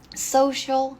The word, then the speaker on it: social: palavra em português bom Social selling Social selling aqui essa palavra é interessante porque a pronúncia desse c é diferente tá sou social Então temos também por